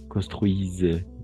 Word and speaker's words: construisent: NT nunca se pronuncia. NT no vamos a pronunciar. Le construit. Construisent.